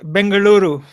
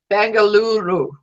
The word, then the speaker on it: Bengaluru: going to Bangalore Bangalore help me with the pronunciation again but message lu lu lu blog scarless bengaluru bengaluru kangaroo thank you so that